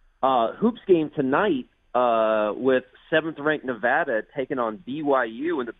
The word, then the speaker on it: Nevada: I'm glad you pronounced it Nevada because I'm wondering, as somebody that has worked